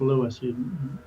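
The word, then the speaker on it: Lewes: Uh there's another place called Lewis, although it's spelled L E Wes. People call it Oh, I'm going to lose beach. No, it's Lewis.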